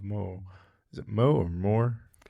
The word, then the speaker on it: Moher: Whereas what you've described that you saw at the Cliffs of Moher, is it Moe or Moore? It's technically pronounced Moe, yeah. Moe. Like Moe, the bartender in The Simpsons?